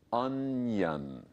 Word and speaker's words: onion: So the O-N is un. I-O-N is yun, onion.